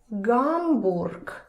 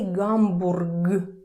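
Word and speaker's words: Гамбург: It's Gamorg. Hello Germany. Gamorg. So again you see in the end we have g voiced consonant g and again it's difficult to say gamorg gamorg nobody does that you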